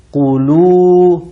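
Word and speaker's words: كلوا: Tapi ada wau-nya. Qulu, begitu, panjang. Ya, qulu wasyrobu, makanlah kalian dan minumlah kalian. Di sini sama saja, meskipun pakai qaf, tetap ditambah dengan wau dan alif, qulu.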